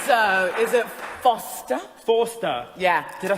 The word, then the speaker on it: Forster: Forster.